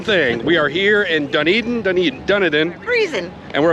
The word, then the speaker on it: Dunedin: As promised, we have arrived in Duneden, New Zealand. And we figured out, we found out that that is the proper pronunciation. We've been saying it right all along. It is Deneden.